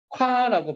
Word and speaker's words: 국화: 발음할 때 국화 발음 한번 해볼까? 구화라고 발음 나지.